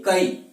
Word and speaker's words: कई: देखिए के कई, के कई ऐसा, जबकि है क्या, इसका विपरीत, कई केई, क्या है, कई केई, ये शुद्ध है, कई केई।